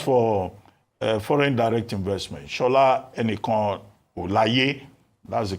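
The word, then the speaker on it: Enikanolaiye: Now, as for foreign direct investment, Shola Enikan Olaye, that's the correct pronunciation.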